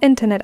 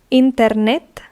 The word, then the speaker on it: internet: does the hotel have internet access now notice the difference of pronunciation in the same word internet in Spanish internet in English so the accent falls on the E internet now we say there